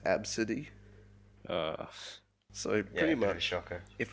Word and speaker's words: Abcde: her daughter's name was spelt ABCDE but it's pronounced AB City so very much shocker if I'm this Airport